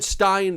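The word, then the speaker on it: Berenstain: you know absolutely it was baron stein and i'm like okay wait a minute here i'm watching a movie specifically about the mandela effect this is probably the most popular mandela effect and you're pronouncing the thing wrong that the whole thing is really based on you know besides mandela i've never heard a person in my life call it stein the band stein bears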